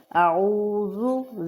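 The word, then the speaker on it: أعوذ: باللہ پڑھی جاتی ہے، اعوذ، زال نرمی سے، اعوذ باللہ من الشیطان،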